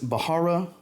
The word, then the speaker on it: Bharara: It's Bharara, I believe is how you say that. H is silent.